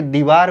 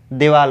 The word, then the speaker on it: दीवार: वाल पढ़ते हैं जैसे गांव में क्या होता है कि दीवार को देवाल बोल देते हैं तो देवाल नहीं होता यह चहार दीवारी ठीक